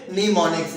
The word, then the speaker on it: mnemonics: लिखने में M को लिखना है, लेकिन पढ़ने में क्या है कि M को साइलेंट कर देना है, आवाज किसकी देनी है, N की।